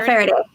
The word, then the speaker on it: Faraday: home and drinks lemonade is it fairy day yeah friday yeah like like daniel faraday michael friday michael faraday i'm terrible with pronunciations speaking